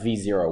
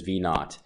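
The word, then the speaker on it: V₀: nothing it means nothing so V sub 0 the way you say it is V naught so V naught another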